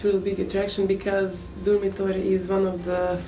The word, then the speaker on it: Durmitor: And also there's the Durmitor National Park. Yeah. Is that how you say it? Probably not. Durmitor. Durmitor.